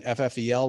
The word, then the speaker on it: FFEL: before 2010 were often given ffel loans or fail loans depending on you know how you want to pronounce it those were loans that